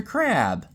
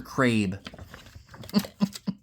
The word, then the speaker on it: Crabbe: Looks like we got Eleanor Holm, and oh, there's Buster Crabbe. As I mispronounced it as a kid, Buster Crabe.